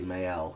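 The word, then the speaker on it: Maelle: about the character Male, which I'm going to pronounce Mayella, because or technically Mayel, if we're being accurate, but Mayel, because they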